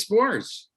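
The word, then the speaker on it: Sborz: I'm going to butcher how you pronounce his last name, but Josh Spores. Oh, Spores, yeah.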